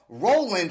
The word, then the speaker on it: RLND: Joe mcloon who's in a band called Roland right but it's spelled r lnd d that's right what is